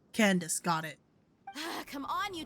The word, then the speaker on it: Candace: Candace? Whoops, I mispronounced. Candace, got it.